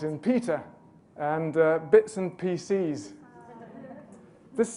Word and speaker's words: PCs: Peter and bits and PCs this this minimal pair actually has a stress difference as well pieces wouldn't have the stress on the second syllable like pcs does and come in for a